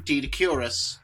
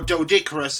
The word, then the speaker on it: Doedicurus: subjects being this time Doedicurus, or Doedicurus as some folks pronounce it, but I refer to it as Doedicurus, because that's how I originally heard it in Walking with Beasts.